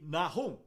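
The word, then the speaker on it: נחום: Vamos estudar Jonas e Naum, ou como são pronunciados no original hebraico, Yona e Nahum.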